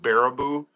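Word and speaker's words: Baraboo: But, uh, no, we're we're I'm in a town called it's pronounced Barabou, and it's, uh, it's by Wisconsin Dell.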